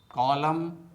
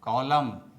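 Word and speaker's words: column: You repeat after me. Autumn autumn कॉलम कॉलम सोलेम सोलेम कंडेम कंडेम हिम हिम डैम डैम लिम लिम तो दोस्तों आपको भी silent letter N से बने शब्दों का इसी प्रकार से प्रोनाउंसिएशन करना चाहिए।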